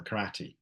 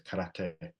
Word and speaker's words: karate: We might say, for example, karate, but that's not the correct way. It's karate.